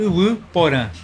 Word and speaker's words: Yvy Porã: que acontecem lá na iip poran a pronúncia é essa sim é a a pronúncia é u poran calma aí vamos lá